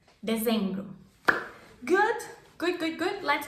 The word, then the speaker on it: Dezembro: Dezembro. There's the Z sound. Z. Dezembro. Dezembro.